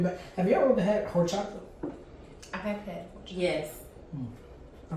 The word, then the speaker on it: horchata: It's a Keurig K-Cup horchata latte, and it's very good. That does sound good. You know the H is silent.